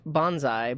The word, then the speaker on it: bonsai: The tree is pronounced bonsai, but I'm not sure about the character.